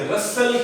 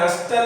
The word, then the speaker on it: rustle: रसल क्या है? रसल, देखिए लफ्ज है RUSTLE, ये टी साइलेंट है, आपने रस्टल नहीं पढ़ना।